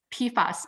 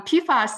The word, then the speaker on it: PFAS: floral ALU substances that's we shorten it as pasas pfas that would be much easier to pronounce um pasas it's a group of